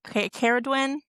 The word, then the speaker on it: Cerridwen: names, and then I was thinking Nuala or Cerridwen, that's how you pronounce them.